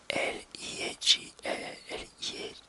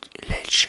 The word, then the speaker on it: LEJ: le véritable album de L.I.J. Ça y est, je vais avoir du mal à le dire maintenant. Moi je dis Lelch, mais on dit L-I-J.